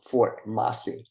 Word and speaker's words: Fort Mose: history and today I want to talk about four Moss I actually pronounced Fort masi I'm going to show you a picture of